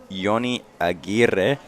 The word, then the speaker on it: Johnny Aguirre: So, Johnny Aguirre, correct my pronunciation, please. No, that's good. You said it perfectly.